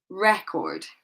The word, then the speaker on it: record: This one, which I can't see because it's upside down for me, record. And this one, present. Okay, So notice that the stress is placed on the first part of the word.